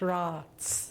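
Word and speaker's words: Roatz: And it's pronounced Ross.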